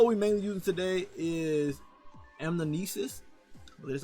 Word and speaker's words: Anamnesis: The bow we mainly using today is Anamnesis. That's how you pronounce it.